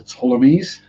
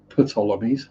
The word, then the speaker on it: Ptolemies: to look at it the ptolemies yes not the putolonies the ptolemy's it's weird having the capital letter is the one you don't pronounce pyramids yeah I can